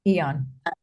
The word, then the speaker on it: AEON: The Ion, Yeah, AEON, yeah, Eon.